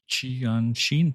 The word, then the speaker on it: Qianxin: I don't know how to pronounce this, Costin. What's the name of the company? Qianxin Qianxin?